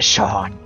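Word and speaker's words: Seam: don't have anything back under the name see pronounced Shawn and this is my little shy sheep sheep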